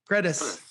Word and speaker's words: Gredys: Is it Grady? What is it, Keith? Gredys.